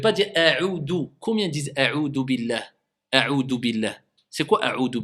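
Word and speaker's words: أعوذ: Combien disent a'udhu billah? A'udhu billah. C'est quoi a'udhu billah? C'est un del? Est-ce que c'est demandé de prononcer a'udhu ou a'udhu? C'est un zel, c'est pas un del.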